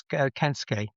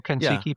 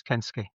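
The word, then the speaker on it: Kensuke: Well, it's Japanese as Kenske. Kenske. I pronounced it wrong. Says Kenuk or Kensuki. It's Kenske.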